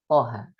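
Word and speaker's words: طه: Misalnya pada surat Toha. Kan seperti ini. Nah, dibacanya Toha. Nah, jadi 2 harokat. Jangan kepanjangan menjadi Toha.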